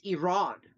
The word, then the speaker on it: Iran: Because she would always be like, I didn't run anywhere. It's Iran. And I was like, yeah, you're in America? We pronounce it Iran.